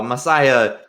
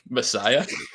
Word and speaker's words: La Masia: They're playing up against a La Masia youth squad, basically, and get absolutely rocked here. So tough looks for Giancarlo and his little Messiah.